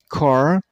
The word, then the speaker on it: cardinal: Cardinal. See, the last syllable is not pronounced as nal. It's no. And stress on the first one.